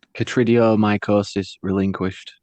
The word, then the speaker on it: Chytridiomycosis Relinquished: It's pretty simple when you hear it. It's just Chytridiomycosis Relinquished.